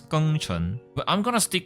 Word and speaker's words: Geng Chen: the name gang Chang that is pronounced in the English Lang is actually pronounced as K Chun but I'm going to